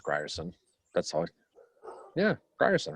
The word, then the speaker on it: Grierson: did in that cavalry have you been announcing it properly grier scent i think it's gryerson that's all yeah ryerson